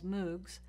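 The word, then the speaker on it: MMOG: massively multiplayer online games which I'll pronounce as moogs and massively multiplayer online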